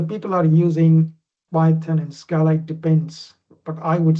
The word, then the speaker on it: Scala: Is that how you pronounce it? Yeah, Scala, yeah.